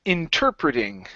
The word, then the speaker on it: interpreting: Okay, so that word is pronounced interpreting. Interpreting. There you go. Yeah, so our stress is right there.